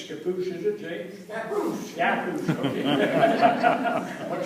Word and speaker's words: Scappoose: Scappoose.